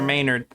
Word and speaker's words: Maynard: Trainer Maynard. I didn't even realize Maynard rhymes with trainer.